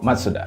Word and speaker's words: Mazda: Seterusnya kita ada Mazda, ataupun dia punya pronunciation yang betul adalah Matsuda. Tema Mazda ni diorang panggil Kodo Design, maksud dia Soul of Motion.